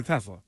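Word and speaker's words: Teslaa: Tell me how you'd pronounce this. T-E capital S-L-A-A. Isaac Tesla. Tesla? Tesla. Yeah, Tesla.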